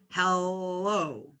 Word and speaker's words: hello: hello as I said there are two L sounds in English and so if we remove the O this else own actually changes so if we pronounce this like in a light L and we went hello it would sound very strange instead this L sound is what we call a dark L and a dark L